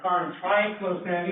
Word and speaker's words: triclosan: First, Karin triclosan is the correct pronunciation because that's trichlorine, that's trichlorine. So when you say triclosan, I would say you're saying it right.